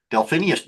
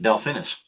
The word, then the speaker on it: Delphinus: Delphinus. Delphinus. Delphinus. I've learned how to pronounce it after all these years.